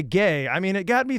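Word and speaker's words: Gueye: a gentleman their Center last name spelled gu ye pronounced gay pronounced gay I mean this guy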